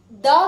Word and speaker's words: the: तो जहां पर भी द के बाद जो वर्ड आएगा उस वर्ड का फर्स्ट लेटर कॉन्सोनेंट होगा, वहां पे हम उस द को द प्रोनाउंस करेंगे।